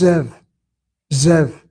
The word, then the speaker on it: Zev: That's how you pronounce my name in Hebrew. In English, it's Zev. Zev.